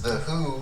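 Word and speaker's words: The HU: my album review is the who which is it's spelled hu and it's a Mongolian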